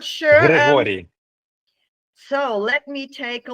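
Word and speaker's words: Hryhoriy: So it's in Ukrainian, it's Grigory Baklanov.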